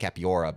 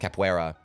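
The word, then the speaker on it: capoeira: mean I know like in Tekken like one of the games they called it capiora but it's actually I think like you know pronounced capuera cuz it's a break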